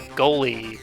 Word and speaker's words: Goalie: The Goalie, pronounced with a hard G as in gob.